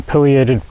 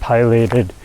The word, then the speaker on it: Pileated: they often get asked how do you pronounce it what's the proper pronunciation pated Pileated I have done research and it can go either way yes however you want to pronounce it tomato tomato yeah however you want to is correct so the pated